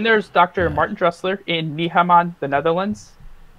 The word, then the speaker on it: Nijmegen: Martin Dressler in Nijmegen, the Netherlands. Nijmegen. I'm pretty sure I'm pronouncing that correctly because I learned from someone who's from the Netherlands.